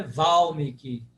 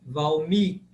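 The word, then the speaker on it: Vālmīki: Penúltima é tônica. Não é Valmiki, mas sim Valmiki. Valmiki. Porque o segundo I é longo.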